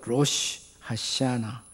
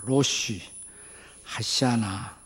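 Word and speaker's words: Rosh Hashanah: 로시 하샤나, 발음이 어렵지만 한번 따라서 해봐요. 로시 하샤나.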